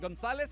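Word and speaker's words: González: this up Martha but Gonzalez has an accent on it if the emphatic syllable is the penultimate one in the word or name and the word doesn't end in N or a vowel the prosodic vowel I'm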